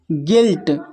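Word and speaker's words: guilt: इसका जो उच्चारण हो रहा है गिटार, यू साइलेंट है। फिर है यहाँ पर गिल्ट, फिर है गार्ड, फिर है गेस्ट, फिर नेक्स्ट है बिस्किट, फिर है बिल्डिंग, फिर नेक्स्ट है सर्किट।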